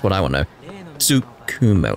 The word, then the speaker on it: Tsukumo: Tsukumo. Like, I'm trying to not pronounce the T, but still it inflects upon how I say the Su. So it's Tsu.